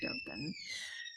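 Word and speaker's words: Dōgen: And Dogen is it's always a hard G with Dogen Zenji. Yeah. Okay, Dogen.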